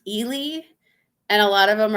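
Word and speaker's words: Ely: and it's like yeah i e y is pronounced Elie and a lot of them are like they they try to call it Ellie or El yeah it's just it's funny trying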